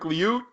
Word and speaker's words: Liut: Your goalies, Kelly, we knew about Lowe and how do you pronounce Lewitt? Mike Liut. Mike Liut.